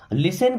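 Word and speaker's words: listen: Okay, चौथा sentence है लिसन carefully, लिसन में टी साइलेंट होता है ना, लिसन मीन्स सुनो, केयरफुली का मतलब ध्यान से, लिसन केयरफुली ध्यान से सुनो, लिसन केयरफुली ध्यान से सुनो।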